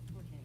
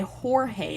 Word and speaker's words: Jorge: How do you pronounce it though? Jorge. Okay. Jorge is how you say it.